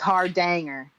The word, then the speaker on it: Hardanger: Hardanger. That's what somebody emailed me today, that I was saying it right and you were saying it wrong. Oh, it's not Hardanger? No, it's Hardanger.